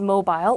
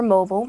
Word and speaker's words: mobile: scheme of something and the last word is mobile or mobile however you want to say it both work just fine this is an adjective